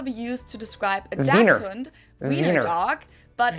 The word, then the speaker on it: Wiener: we say Wiener. The German W Wiener. is pronounced like an English V.